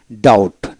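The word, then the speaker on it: doubt: ডি ও ইউ বিটি ডাউট অর্থাৎ ডি ও ইউটি ডাউট বি উচ্চারিত হবে না একইভাবে সি সাইলেন্ট যেটা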